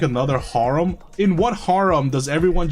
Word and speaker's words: haram: Is it herum or Haram? I I don't I don't remember. Wait, hold on. Let me Let me Google it real quick. Okay, it's Harum.